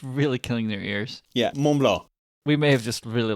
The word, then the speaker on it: Mont Blanc: The Kit Kat we got this time is Mont Blanc. Mont Blanc? Mont Blanc. That's the pronunciation, at least based on what this one YouTube pronunciation thing says.